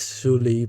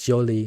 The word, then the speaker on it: Shuli: Noble Shuli, which is you, your name is Shuli, but in reality it's Jolie. Shuli is just easier to pronounce for us Cambodian.